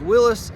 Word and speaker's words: Willys: trim level available and a lot of people are going to say in the comments that you're supposed to pronounce as Willis that may be true but for the sake of this video I'm just going to call it Willy's because that's what I've called it for many years in the past and